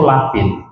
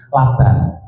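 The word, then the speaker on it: لبن: Jadi kalau dalam bahasa Arabnya itu labin. Makanya ada kisah yang antik. Dulu ada santri atau siapalah pada waktu baca ibarat tersebut, teks Arab tersebut bacanya bukan labin, laban.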